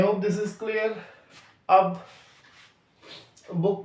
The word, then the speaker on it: beau: जी आर कहीं आ जाता तो उसका साउंड घा की तरह आ जाता है, तो घो और लास्ट लेटर बोलेंगे नहीं, तो घो.